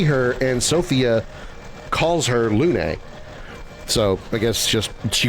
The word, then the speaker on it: Luna: I mean I never really thought of it the other way of it being pronounced loon.